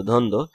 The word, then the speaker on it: দ্বন্দ্ব: হ্যাঁ, তারপর হচ্ছে দ্বন্দ্ব, ধ ন দৌকাদ্য, দ্বন্দ্ব ইত্যাদি।